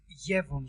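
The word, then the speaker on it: Jevons: another I would it's I didn't say yellow Paradox it's yevon Paradox so yens is a name oh okay it's a name of a scientist that find it so I'm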